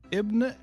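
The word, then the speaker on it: Basim: Bim that little guy don't say like you know how to say it it's Bim dude don't you know it's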